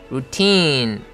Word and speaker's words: routine: 발음은 스트레스가 T에 있고 장모음이기 때문에 routine 해가지고 뒷부분을 강하고 길게 끌어줘야 됩니다.